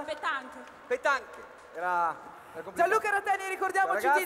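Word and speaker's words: pétanque: Chiederò a voi come si pronuncia nel modo corretto, come si pronuncia? Pettanche.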